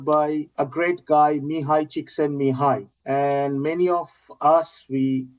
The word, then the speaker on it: Csikszentmihalyi: First time I'm talking to someone who has been mentored by a great guy, Mihaly Csikszentmihalyi.